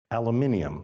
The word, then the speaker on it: aluminium: think of it's tin foil right it's only aluminium that's how you say it here right uh